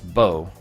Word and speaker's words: Boer: said it before it's bow like you Bo oh Bow balker okay it's bow like you bow down to someone so that's the problem B has two pronunciations guys I'm only going for